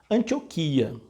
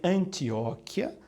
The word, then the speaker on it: Antioquia: das leituras na Bíblia Antioquia já ouvi muita gente dizer antióquia eu até dizia isso